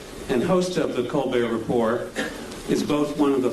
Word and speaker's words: Report: frequent guest on the co report but uh or Rapport I guess is the proper pronunciation uh we're delighted that